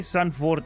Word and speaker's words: Zandvoort: finite as unfelt psyche son Ford as it is pronounced in Dutch has already seen quite